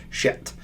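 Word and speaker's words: שת: Seth, it's funny, the S is actually an SH, and then the TH is actually a T, so it's actually Shet.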